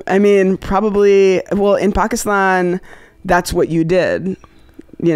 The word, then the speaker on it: Pakistan: And so, and all I knew how to do was pronounce it properly. And that was Pakistan.